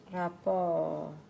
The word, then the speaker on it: rapport: The S isn't making any difference here. Why is that? This is because it's a French word, and French, you would only hear the T and the S if it was the feminine, which would be written like that.